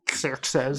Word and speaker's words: Xerxes: It's pronounced Xerxes.